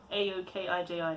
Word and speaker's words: Aokiji: I just can't pronounce it. It's Aokiji.